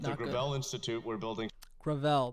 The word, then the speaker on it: Gravel: That's At the Gravel Institute, we're building Gravel, that's how you pronounce it.